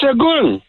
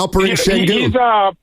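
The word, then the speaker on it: Alperen Şengün: I would draft is Shagun. How you say his name? Yeah, Alperen Sengun.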